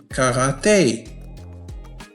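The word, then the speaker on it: karaté: ك غ تي، هذا الحرف A، كاغاتي، كاغاتي، وتعني رياضة الكاراتيه.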